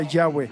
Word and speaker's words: Yahweh: nombre del Señor en hebreo es yhvh se pronuncia Yahweh saben lo que significa yahv yahve significa el